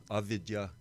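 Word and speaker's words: avidyā: Avidya. Yeah, I knew you would pronounce it correctly.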